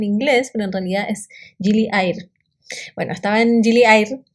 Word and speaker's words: Gili Air: Air para su información, porque es en indonesio, y Air significa agua. Entonces nosotros siempre decimos Gili Air, porque lo pronunciamos en inglés, pero en realidad es Gili Air.